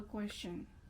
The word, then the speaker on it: question: Oh, T-I-O-N makes shun.